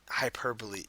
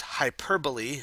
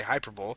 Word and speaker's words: hyperbole: end of this presentation you should understand what hyperbole is how it works and why an author